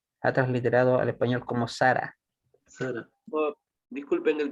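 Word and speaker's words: שָׂרָה: Pero esto, en la última sílaba se debe. Claro. Hay una regla que yo les mencioné. ¿Se acuerdan cuando vimos las clases de las Nikudot? Que cuando vemos dos kamats en una palabra, la regla nos dice que se va a acentuar en la segunda sílaba, Correcto. en la segunda kamat.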